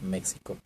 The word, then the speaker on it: México: esa época, por eso seguimos escribiendo México con X sin pronunciarlo México, y que así pasa a otras lenguas, ¿verdad?